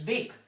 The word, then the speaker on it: bake: Example is bake. If you see the word E is silent here.